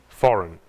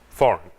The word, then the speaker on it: foreign: Sign, design, foreign. Quando a letra G é ao lado do N, não pronunciamos. Sign, design, foreign.